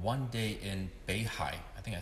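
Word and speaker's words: 北海: painting by Chao Jinping called One Day in Beihai. I think I said it right, Beihai.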